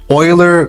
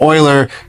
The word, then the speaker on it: Euler: calculates what's called the oiler critical buckling load. It has a weird name. Uh, oiler is spelled u e or sorry e u l e r critical buckling load.